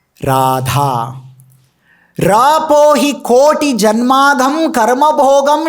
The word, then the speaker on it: Radha: from her holy name, has got 4 syllables. Ra, A, Dha and A. Radha means Ra, Vyanjana, and A, Swara, Dha, Vyanjana, and A. So, it becomes Radha.